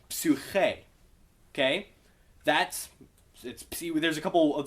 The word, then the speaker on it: psyche: why it's psyche, but notice how when we loan that word from Greek, it's a Y. It's not a U. And you kind of pronounce it like an I, as opposed to an U sound as you might anticipate.